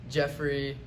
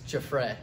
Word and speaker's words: Giuffre: What type of pronunciations do you get for it? Sometimes I get Giuffre, Jeffrey, stuff like that.